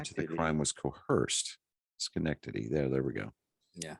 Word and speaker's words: Schenectady: i'm just below where you started yeah yes schenectady yeah there we go uh prosecutors had only